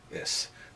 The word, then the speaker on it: is: the most common word this breaks the rule of slender s should be ish but it's not it's pronounced yes there are a few